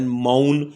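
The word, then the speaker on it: mourn: تو مور نہیں ہوتا۔ اسی طرح ایم او یو آر این، ماؤن، اس میں آر کا تلفظ نہیں کیا جاتا۔ لیکن اگر آر کے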